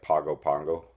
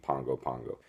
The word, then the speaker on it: Pago Pago: Samoa PA Gopa Geo looks like Pago Pago but they pronounce it like an ng Pongo Pongo we're doing the budget